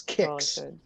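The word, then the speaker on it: Kix: this so we got this week's band is kicks blow my fuse yeah yeah folks yeah you already know but it's spelled k-i-x okay come on it kind of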